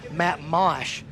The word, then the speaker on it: Mash: You know, Matt's name is actually pronounced Matt Mosh, but not in the PGF, baby. This is Matt Mash.